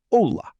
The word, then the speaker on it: hola: Repeat without the H sound. Hola. Hablar. Hotel. Hola, hablar, hotel. No H sound ever.